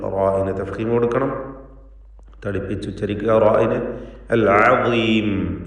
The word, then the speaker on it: العظيم: അൽ അദീം ഈ പദത്തിൽ ളാഇന്റെ ഉച്ചാരണവും തഫ്ഖീമോട് കൂടിയാണ്. എന്നാൽ കസ്റ ആയതുകൊണ്ട് ഏറ്റവും കുറഞ്ഞ തഫ്ഖീമാണ് ഉണ്ടാവുക.